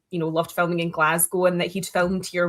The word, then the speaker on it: Glasgow: But I will give him props because he actually said Glasgow and not Glass Cow that a lot of Americans say.